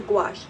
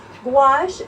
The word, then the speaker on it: gouache: techniques um and it is very similar to gouache but a traditional treat true gouache if you